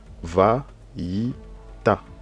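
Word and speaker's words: ויטע: Nous avons la lettre Tet, et nous avons le A et le Aïn. Aïn ici n'a pas de voyelle, donc ça reste une lettre muette ici. Donc ça se lit Va-yi-ta.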